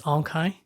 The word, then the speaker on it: Aung Khaing: names are quite unique and quite difficult to pronounce so my name is Ahn Chi and so when I introduced to like a